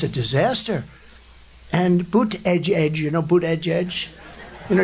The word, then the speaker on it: Buttigieg: And Buttigieg, you know Buttigieg? You know, years ago, I said, how do you pronounce that damn name? And they said, Buttigieg, the word edge. That's the way it's pronounced, Buttigieg.